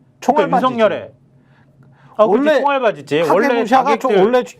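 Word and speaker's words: 影武者: 각해무시라는 게 이제 결국은 정확한 일본어 발음으로 이제 네. 카게무시아. 카게무시합니다. 카게무시. 카게가 그림자기 때문에. 예, 카게 맞아요. 저게 카게무샤가 맞아요. 예. 카게무샤. 예. 근데 이제 한글로 말할 때는 앞에 카가 이제 가로 네, 발음될 수 있기 맞습니다. 때문에 그냥 가게무샤라고 해도 됩니다.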